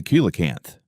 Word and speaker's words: coelacanth: Meet the coelacanth, pronounced Coelacanth.